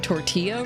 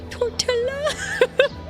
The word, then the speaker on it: tortilla: I didn't know the double L made a e sound.